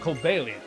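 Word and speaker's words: Cobalion: an amazing pokemon called kobelian that's the official pronunciation but i'm going to call it kobalian because it's based on cobalt amazing pokemon called cobalian who was said to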